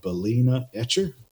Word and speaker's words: Balena Etcher: easy for you guys as well, is called Balena Etcher. If you search for Balena Etcher, you can see how it's spelled here, B-A-L-E-N-A, Etcher.